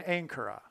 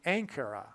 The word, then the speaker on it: Ankara: And the Pope landed in Ankara, which rhymes with Alaska.